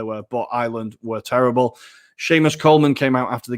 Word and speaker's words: Seamus: How do you pronounce it? Seamus.